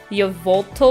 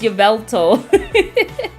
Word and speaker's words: Yveltal: did I used to I think I used to call him like Y volto which is not it's yto I literally used to pronounce y yel yolal like there's an o in there ridiculous Yveltal used to be